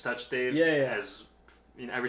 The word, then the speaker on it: Sachdev: and i'm saying it i always used to say my name like sachdev yeah yeah that's such that i've been saying it's touch dave yeah as you know